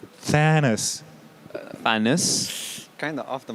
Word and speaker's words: Thanos: you keep going okay can you pronounce it thanos there we go that's the one okay like oh great